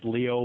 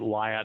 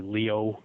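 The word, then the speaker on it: Lyot: is called lyo T it's pronounced Leo but it's French so it's we pronounce it light but it's actually Leo pronounced Leo and that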